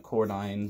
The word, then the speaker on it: Cordin: And it's spelt weirdly, like Cordine, but it's actually Cordin.